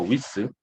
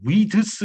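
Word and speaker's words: width: 드를 발음을 넣어버리면요. 이 원래 D 발음이 아니에요.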